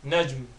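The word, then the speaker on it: نجم: Star, najm, najm. Again, you gotta make sure you get that meme sound at the end of it. So the light meme sound at the end of it, so najm.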